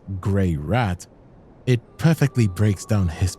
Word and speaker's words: Greirat: Pronounced Greirat, it perfectly breaks down his peculiar character.